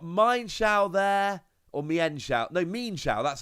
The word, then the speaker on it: Mienshao: No, Mienshao, that's how you pronounce it.